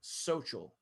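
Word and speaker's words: Xochil: be able to pronounce his name which is actually social which is what you're reading right now x-o-c-h-i-l and so his teacher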